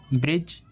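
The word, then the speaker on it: bridge: अगर वर्ड में डी के बाद जी आएगा तो हम डी का उच्चारण नहीं करेंगे। क्योंकि डी के बाद जब जी आता है तो उस वर्ड्स में डी साइलेंट रहता है।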